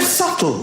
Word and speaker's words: subtle: The word subtle, would anybody object if it was spelled S-U-T-L-E?